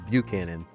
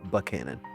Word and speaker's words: Buchanan: And first off, let's start with how the heck do you pronounce Canon? Well, some people say just that aren't around from the area say Buchanan, but everybody that I that is from that area, we all call it Buchanan.